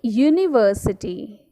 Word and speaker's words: university: with a why a university university sound is you and that's why we are using a it begins with a